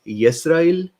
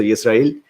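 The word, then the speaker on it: ישראל: So the person enlightened us that it is a biblical word, and it is Yisrael, and I think the il is the more there is stress on that. So Yisrael.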